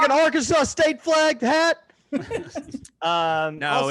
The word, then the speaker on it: Arkansas: job or alabama or arkansas arkansas rhymes with outlaw you